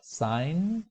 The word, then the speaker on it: sign: with a y5 mind sign notice how the J the G is silent fight line while kind